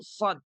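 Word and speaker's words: ص: Nah, pertanyaannya bagaimana kedudukan huruf shad? Cara mengucapkannya. Huruf shad itu diucapkan dengan cara meletakkan ujung lidah kita ini di belakang gigi seri. Gimana ya?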